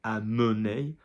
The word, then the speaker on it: amener: Anything that's MEN in the infinitive is mun, so amener, emmener, and in the short